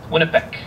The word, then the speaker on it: Winnipeg: Winnipeg is a creishnab word derived from wet which means uh dirty or muddy and nibek which means waters plural waters. The original pronunciation is likely Winnipeck.